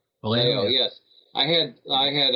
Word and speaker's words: Vallejo: Uh Boris Vallejo or Vallejo? Yeah, Valo.